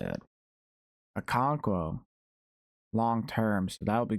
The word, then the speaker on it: Okonkwo: Okonkwo.